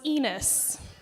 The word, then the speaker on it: Enos: His last name was Ridgway, and my maiden name was Enos. Yes, rhymes with penis.